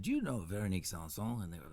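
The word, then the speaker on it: Véronique Sanson: Only because I don't have the pronunciation skills that you have. No, that's cool, man. Veronique Sanson.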